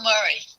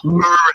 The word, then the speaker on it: Murray: That's not right. Bill Murray. Yeah, no A. Bill Murray. Right. Look how he spells his name. Yeah, but that's how you say it.